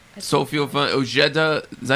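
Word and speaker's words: Ojeda: Oeda. J's are H's. Yeah. Oeda.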